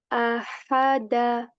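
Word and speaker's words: أَحَدَ: Ahada, ahada, ha, ha. First pushing the air out of your throat and then making the sound at the end.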